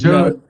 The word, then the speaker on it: Judd: You pronounced it, I think Jude or something like that. But I thought it was Jude. It's Judd. Yeah, it's Grady Judd, just like the Judd singers, the actors.